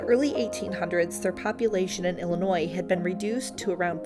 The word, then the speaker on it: Illinois: to use today and it's why the S at the end of Illinois is silent unfortunately for the elinc by the early 1800s their population in Illinois had been reduced to